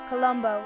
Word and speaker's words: Colombo: Columbbo in Italian or Genoies the O sounds are really distinct not like the uh in English Columbus.